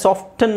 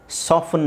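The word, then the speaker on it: soften: ಇದು ಸಾಫ್ಟಫನ್ ಓಕೆ ಇದನ್ನ ಎರಡು ತರ ಹೇಳ್ತಾರೆ ಸಾಫ್ಟನ್ ಅಂತಾನೂ ಹೇಳ್ತಾರೆ ಸಾಫ್ಟಫನ್ ಅಂತಾನೂ ಹೇಳ್ತಾರೆ ಸೊ ನೀವು ಟೀ ಸೈಲೆಂಟ್ ಮಾಡಬಹುದು ಬಿಡಬಹುದು ಎರಡು ಯೂಸ್ ಮಾಡ್ತಾರೆ ಸಾಫ್ಟನ್ ಸಾಫ್ಟಫನ್ ಅಂತಾನೂ ಯೂಸ್ ಮಾಡ್ತಾರೆ ಓಕೆ ಮಾಯಿಸ್ಟನ್ ಮೊಯ್ಸನ್ ಮೊಯ್ಸನ್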